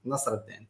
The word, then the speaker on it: Nasreddine: My name is, the correct pronunciation is Nasreddine.